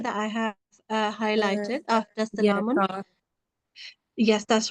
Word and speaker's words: سلام: So if you stop here, how do you read this first word? Oh, it would be salam.